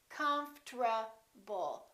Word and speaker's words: comfortable: this is what happens the O disappears but then there's one more very strange thing that happens and that's the RT becomes a TR they change positions listen comfortable comfortable comfortable I'm very comfortable most Americans pronounce it like that alright now let's take